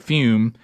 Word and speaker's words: Fum: All right, even though it's pronounced fume, it's spelled F-U-M.